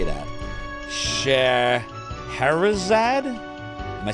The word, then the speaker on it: Scheherazade: Scheherazade?